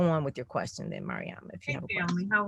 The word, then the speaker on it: Mariama: Marima? Mariama. Mariama. Okay. So I wasn't sure of the accent on the A, Mariama.